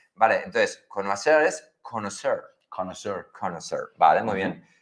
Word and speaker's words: connoisseur: En francés sería connoisseur. Con OI, UA en francés. Vale, entonces, connoisseur es conocer. Connoisseur.